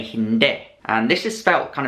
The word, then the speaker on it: hindi: say no you say Hind and this is sped kind of the same as the language India Hindi but you pronounce it as hind not Hindi Hind to say thank